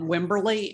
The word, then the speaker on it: Wimberley: um come from um wimberley w-i-m-b-e-r-l-e-y wimberly no it's like the town but it's spelled differently oh but it's wimberly and the best base